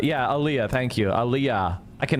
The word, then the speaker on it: aliyah: Aaliyah. Yeah, Aaliyah. Thank you. Aaliyah. I can never pronounce that What you got to understand about Ethan and Destiny, they're the same guy.